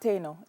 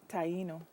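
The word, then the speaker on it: Taíno: It's Taino? Not Taino, Taino.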